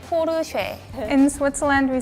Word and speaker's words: Porsche: hear a lot of porch. Sounds like the Russian silk cuz we don't have the s sound. We only have the s like the sound, not the shh sound. In Korea, we say push.